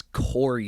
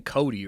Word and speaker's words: Corey: uh first of all it's Corey sandhagen you're saying Cody right oh